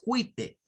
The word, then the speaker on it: white: No es white, es white, white. Con el sonido I es el que corresponde aquí. White. Y suena al final una T. La E no suena.